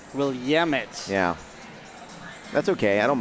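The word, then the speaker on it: Willamette: I've also been corrected several times on my pronunciation it's not will AIT it's will yamit will yamit yeah that's okay I don't mind you know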